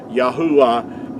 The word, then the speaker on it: Yahuah: Yahwa is the way that our creator's name is pronounced.